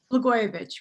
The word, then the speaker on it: Blagojevich: take it from here and no doubt correctly pronounce the name thank you natasha lagoyovich right may we uh forget that name soon